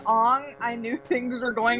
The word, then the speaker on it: Aang: They already knew how to pronounce Aang, and they went That's with the problem. Ong anyway.